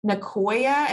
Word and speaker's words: Nicoya: you might have a better job of um pronouncing this is it ncoa is that how you pronounce it yeah that's